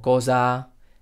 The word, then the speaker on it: cosa: cosas como casa o cosa en este caso en español siempre vamos a decir casa y cosa porque he dicho oficialmente